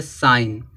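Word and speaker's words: sign: आना एन आना चाहिए तब क्या होगा जी साइलेंट होगा देखो यहां दिया साइन अब जी के बाद देखो यहां पे एन आया है साइन अब क्या हो जाएगा जी साइलेंट हो जाएगा इसको क्या पढ़ेंगे साइन साइन माने चिन्ह होता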